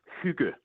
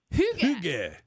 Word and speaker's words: hygge: All right, so I'm gonna do my best to pronounce it. Is it Heggy? Hygge. Hygge.